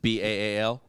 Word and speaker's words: Baal: Okay, so the first demon listed in the grimoire is King Baal. Baal, depending on what. how No, you King pronounce Ball, dude. B-A-A-L?